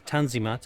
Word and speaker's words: Tanzimat: of Ottoman history is known as the on the mat pronounced in English as tanzimat and it means the